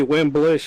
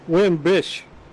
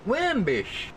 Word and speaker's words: Wimbish: You've been calling me Wimblish for about a year now. I just kind of deal with it. What is it? Wimbish. Wimbish. Yeah. Hey, you kidding me? No, I've just been letting you say it wrong for like a year.